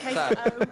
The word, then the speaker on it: queso: The O at the end. Queso.